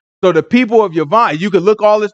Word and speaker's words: Javan: Where it say Yavan or Javan, it's spelled with a J in the Bible, but it wasn't no J, so it would have been pronounced with a Y, Yavan, right?